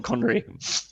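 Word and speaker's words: Connery: the the thing is because you don't have the accent you can actually pronounce it as Sean conry I don't have an accent yeah that's what I said you you don't have an accent therefore you can pronounce it accurately Thunderball by she as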